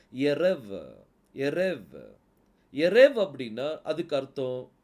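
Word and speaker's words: ערב: pronounce பண்ணனும்னு சொல்லி பார்க்கலாம் கடைசி எழுத்து பெத்து தான் ஆனா புள்ளி இல்ல அப்ப இதை எப்படி உச்சரிக்கணும் வெத் வ சவுண்ட் வரணும் அப்ப இதை எப்படி உச்சரிப்பீங்க எரவ எரேவ் எரேவ் அப்படின்னா அதுக்கு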